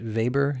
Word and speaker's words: Weber: you're in Europe Volkswagen just like we pronounce it Weber in Europe factories often choose to